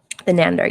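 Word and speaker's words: Thanedar: The Nander. Yes. How do you say it? The Nander. He's horrible. Yeah. Okay. Shrianander.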